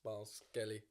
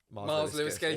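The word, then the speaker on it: Myles Lewis-Skelly: Just like go and enjoy, Which is why we like the Miles Skelly. Did I get his name right? Miles Lewis Skelly.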